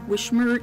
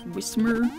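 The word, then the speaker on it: Whismur: It's not Wishmer, it's Wismer.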